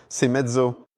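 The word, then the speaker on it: Seiemmezzo: All right, and Moto Morini, which I think I've finally learned how to pronounce, Semezzo.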